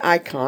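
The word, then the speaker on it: εἰκών: look at the Greek word icon again it's pronounced icon on meaning likeness, image, form or representative.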